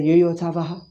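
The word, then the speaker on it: yotsavaḥ: They say Yoyotsavaha. Yoyotsavaha. See, am I not pronouncing T and S?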